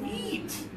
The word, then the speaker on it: feet: a lot of air your tongue is touching the top of your mouth a little bit it's easy to say feet yeah easy sound that exists in everything we did it exists in Korean it exists in Turkish it exists in Italian EEE okay all right so